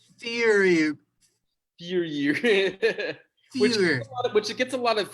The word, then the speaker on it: Feuerberg: The only way to pronounce it correctly is Feuerberg.